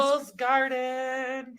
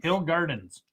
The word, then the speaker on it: Hill Gardens: Hills Garden. Hill Gardens. I said Hills Garden. Exactly. You said Hills Garden. Oh, Hill Gardens. There you go. He asks me every time we do it. I thought I said it right. You're saying it wrong.